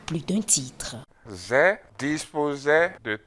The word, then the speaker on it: Zè: Au lieu de Aïzé, c'est devenu Zé, Zé, Zé.